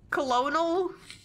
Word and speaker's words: Colonel: Colonel? I don't know why Colonel spelled that way, but, yeah. So he told you that much, did he? But I don't suppose he mentioned Jaina. Correct, it's pronounced Colonel.